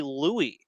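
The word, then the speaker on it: Luis: It's actually Louis.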